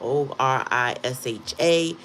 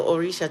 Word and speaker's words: orisha: O R I S H A for some people or O R I S A some people you pronounce the H whether it's there in the word or not.